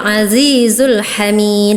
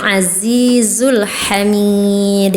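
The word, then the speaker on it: العزيز الحميد: Kakak tadi ee kurang tebal azizul hamid harusnya azizul hamid ya seperti itu ya.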